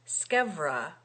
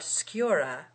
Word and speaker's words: scevra: to tell you that the pronunciation of that word, scevra, with a V, and not sciura, with a U, because it is a contraction of scavera. It remains to be seen which of us is wrong. You, madam, according to Aristotle, who makes scevra rhyme with persevera, and the rhyme would